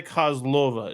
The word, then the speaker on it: Kozlova: And just for clarification, it's Ty Kozlova.